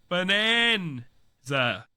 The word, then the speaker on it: Bananza: Donkey Kong Bonanza spelled like banana. Bananza.